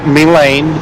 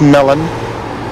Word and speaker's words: Mellon: It's not Melane, it is Mellon. I try to say Mellon, even though Joshua still says Melane, or he still, takes an axe to Art's name.